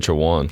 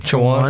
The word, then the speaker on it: Chowan: They said Chowan. Chowan. That's what the announcer said.